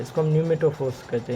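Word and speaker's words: pneumatophores: उसके बाद हमारे पास जो रूट्स हैं वो है न्यूमेटोफोर्स। पी यहाँ पे साइलेंट है, न्यूमेटोफोर्स, ठीक है।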